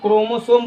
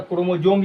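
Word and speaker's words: chromosome: य जो गुणसूत्र है उसको क्रोमोसोम बोला जाता है या कोई कोई स को कभी कभी ज भी उच्चारण कर देता है तो क्रोमोजोम भी बोल देता है तो गुणसूत्र के अंग्रेजी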